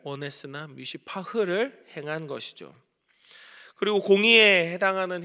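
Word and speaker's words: מִשְׂפָּח: 미시파트를 바랬지만 미시파흐를 보여준 거죠. 말장난 같죠. 정의를 바랐으나 포악을 나타냈다. 미시파트를 원했으나 미시파흐를 행한 것이죠.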